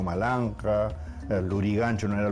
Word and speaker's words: Maranga: Por eso también, digamos, el cacique limeño, ¿no es cierto?, Taulichusco no era Taurichusco, sino Taulichusco, y toda la toponimia, Maranga no era Maranga, sino Malanja, Lurigancho no era Lurigancho,